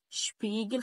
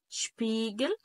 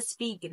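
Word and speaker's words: Spiegel: عندي بعد كده شبيجل شبيجل خلي بالك كمان الاي جت كمان مره اهي شبيجل وبعد كده شسس ما تقوليش بقى سباس ما تقوليش بقى سبيجل ما تقوليش بقى سور الكلام ده ممنوع يبقى انا بنطق زي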